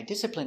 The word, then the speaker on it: discipline: n discipline discipline discipline Stress on the first syllable.